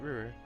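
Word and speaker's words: Roer: Ruhr. Yep, no, I was saying it right, Ruhr.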